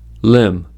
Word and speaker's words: limb: First, B is not pronounced after M at the end of a word. These are examples: limb, plum, numb, crumb, dumb, comb, bomb, thumb, climb, tomb.